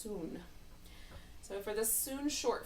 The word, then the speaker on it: Sun: soon it would just spelled like Sun s UN but pronounced soon so for this soon